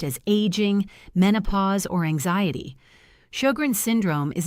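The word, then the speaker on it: Sjögren: There is an autoimmune condition called shogrin syndrome pronounced shograns that specifically and aggressively targets the moisture producing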